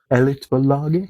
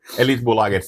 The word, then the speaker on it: Elitbolaget: You mentioned your booking and label name is Elitbolaget? Yes. Is that a good pronunciation? Yeah. I've been learning Swedish. Okay. So I'm trying. Elitbolaget, that's like the elite corporation.